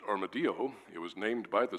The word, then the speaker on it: armadillo: and also the armadillo which in Spanish is pronounced armadio it was named by the Spanish and it